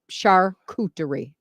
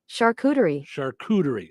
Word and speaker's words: charcuterie: So no R after the second charcuterie. Charcuterie. All right. Charcuterie. All right. Oh, there's all kinds of YouTube videos about it. Stop saying it wrong. It says. Does it? Yeah. Charcuterie. All right. There's no second R.